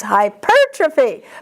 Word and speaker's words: hypertrophy: It's hypertrophy. Purr. Yes, yes.